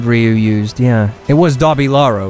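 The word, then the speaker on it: Dabilahro: Chikugensai says I showed you how to pronounce Dobby Laro." The big sword Ryu used. Yeah, it was Dobby Laro, right? What did I used to call it? The Delabria?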